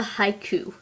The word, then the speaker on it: haiku: chunks of a word it's like if you say the word haiku you say it a little like this Haiku so that's two syllables now the next word